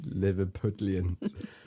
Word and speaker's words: Liverpudlian: Yeah, you say Liverpudlian. Pudlian. Pudlian. Like a pudding. Like a pudding. Those Liverpudlians.